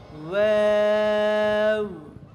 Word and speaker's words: ওয়াও: দেখো এটা হলো ওয়াও। ওয়াও বলবে না, ওয়াও হবে না। কি হবে? ওয়াও। পাতলা উচ্চারণ, কেমন? ওয়াও, ওয়াও, ওয়াও, ওয়াও। এইভাবে পাতলা করে উচ্চারণ, ওয়াও বলবো না, এটা কেমন, ওয়াও বলা যাবে না, ওয়াও।